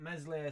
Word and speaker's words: Meslier: I've got Meslier, Silent S in net, which would be no surprise to no man, no shock to no one.